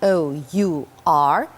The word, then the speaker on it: hour: hour an hour h o u r h but we do not say hour we say our we just swallow this h and we pronounce our